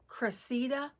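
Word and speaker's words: Cressida: Welcome to my pattern review of the Cressa East West bag. I' It's spelled C R E S S I D A.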